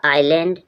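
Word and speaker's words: island: के बाद एस आए जब आई के बाद एस आएगा एस साइलेंट रहेगा आइलैंड आई आईल मींस बहुत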